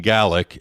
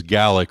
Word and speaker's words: Gaelic: think they were speaking gaelic and in scotland it's referred to as gaelic rather than gaelic which is in ireland so that you at least get that pronunciation right and the languages are